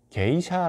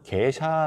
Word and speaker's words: 게이샤: 개인 샤 라는 이름이 어떤 분을 계사 라고도 얘기 하고 어떤 분들은 개인 샤 라고도 얘기해요 물론 이제 에티오피아 발음 자체가 우리가 정확하게 영어로 표기 하기가 쉽지 않다고 해요 우리가 많이 알고있는 에티오피아의